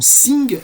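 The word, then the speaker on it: S!NG: Alors la collection Sing, ça s'écrit S point d'exclamation NG, donc ça joue évidemment sur l'inversion du signe I, et c'est une collection qui est dirigée par Pierre Winkler.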